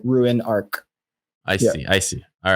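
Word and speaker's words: Ruinarch: Ruin Arc. So it's like ruin, like you're ruining something, and monarch. So like Ruin Arc.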